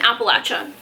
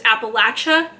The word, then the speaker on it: Appalachia: two I I've been told so many times that it's Appalachia so I'm pronouncing it Appalachia so don't go into my comments and be like it's pronouncing Appalachia no it's Appalachia and there's just been